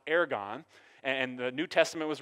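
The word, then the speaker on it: ἔργον: word works here used it's called it's it's pronounced aragon and the new testament was written in greek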